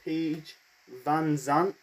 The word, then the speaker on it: Paige VanZant: We got the American top team, that is Scorpio Sky, Ethan Page, and Paige VanZant, that's how to pronounce her name, with Dan Lambert in their corner.